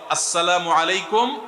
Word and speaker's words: আসসালামু আলাইকুম: শুদ্ধভাবে সালামের উচ্চারণ বাড়ানোর জন্য শুদ্ধ করে সালাম দিতে হবে। আসসালামু আলাইকুম ওয়ারাহমাতুল্লাহ।